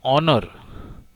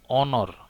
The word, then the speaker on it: honor: Similarly, an honor. Honor is preceded by the article N, because you see here H remains silent. We must pronounce it as honor, not honor.